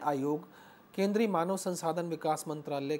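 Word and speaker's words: Mitterrand: जैसे एक शब्द है मिट्रेंड, MITRAND, अगर हम इसे शब्दों की वर्तनी के हिसाब से देखें तो मिट्रेंड लिखेंगे, जबकि फ्रांस के उच्चारण के दृष्टि से हम देखें फ्रांसीसी भाषा में इसका उच्चारण जो है मित्रां शब्द है।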